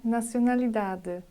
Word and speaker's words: nacionalidade: A nacionalidade. A universidade. A idade. Grande. While reading, I applied 3 rules. I pronunciate letter E with a sound between letter E and Y.